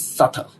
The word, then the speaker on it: subtle: the work um uh the pronunciation of this word is not subtle no it is subtle it's why people talk about depth you know yeah owing money but the silent B again yeah and you're